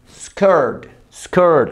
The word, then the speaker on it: skirt: Vestido, dress, falda, skirt, la misma pronunciación de camisa o camiseta, boca de O, pero pronuncia una E, skirt, lo mismo que niña,